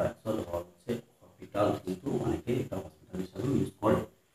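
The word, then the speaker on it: L'Hôpital: Actually এসটা উচ্চ থাকে, সেজন্য হসপিটাল উচ্চারণ হওয়ার কথা না, উচ্চারণটা অ্যাকচুয়াল হওয়ার হচ্ছে হপিটাল, কিন্তু অনেকে এটা ইউজ করে।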